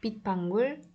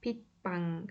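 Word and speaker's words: 빗방울: demekti viro üzerine demek pit pangur yağmur damlası demek Totoro pit pangu s harfi bakın hecenin sonunda ve devamında sessiz bir harf gelmiş o yüzden D şeklinde okunur pit Bang şeklinde okuduk Onu o zaman çevirdiğimizde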